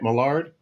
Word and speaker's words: Millard: Mard. Uh yeah you did. Right on. Okay. I've heard it pronounced a couple different ways.